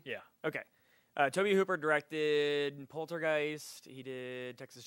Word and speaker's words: Tobe Hooper: like an amateur but I always pronounce his name wrong Toby Cooper it is Toby yeah okay tobe Hooper directed poltergeist he did